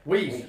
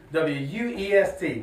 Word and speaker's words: Wuest: here with, and I don't want to mispronounce it. It's Wuest, is that correct? Wuest. That's what I said, Wuest. W-U-E-S-T, Wuest, okay?